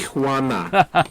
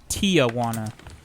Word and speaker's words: Tijuana: Speaking of Tijuana, I had to educate my coworkers that it's not said Tijuana. Tijuana. You ever go down there to that Tijuana? I had to write it on the board and say, look, this is how you say it.